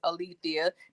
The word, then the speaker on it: Alethea: day and a lot of people they never pronounce my first name right is Alethea they say Alec they're out there they called